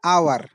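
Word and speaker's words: hour: प्रथम दुईटी शब्द हला ऑनर द्वितीयटी हला आवर तापर हला हाउस एवं होटल। तो कौन जना पड़े ना प्रथम दुईटी रे एच साइलेंट रूपे व्यवहार हुए एच रो व्यवहार आसुना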